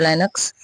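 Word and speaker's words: Linux: काली लिनक्स, आर्क लिनक्स, ये जो लिनक्स है इसको बहुत से लोग लाइनक्स भी पढ़ते हैं। Both are right. ठीक है, प्रोनाउंसिएशन आप दोनों ही कर सकते हैं, आइदर लिनक्स और लाइनक्स। और जो पॉसिक्स है ये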